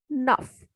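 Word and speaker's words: neuf: Next is EU. EU has sound A. Nuff means 9.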